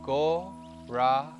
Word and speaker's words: Gauranga: In 4 parts, 4 syllables, Gauranga.